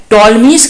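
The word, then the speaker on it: Ptolemy: book है वो है टॉल मिस का ज्योग्राफी इसका मतलब जो ज्योग्राफी बुक है उसका राइटर कौन है टॉलमी टॉलमी का स्पेलिंग पी से होता है लेकिन टी बोला जाता है और एक और बुक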